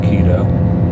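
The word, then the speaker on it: Quito: way to keto Qi t o keto let's pronounced keto I've learned that in my time here you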